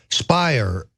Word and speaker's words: Speier: is congresswoman Jackie Speier Speier rhymes with liar this is this is